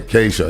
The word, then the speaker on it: Kasia: It's Cassia, isn't it? Not Cassia. Kasia, yeah.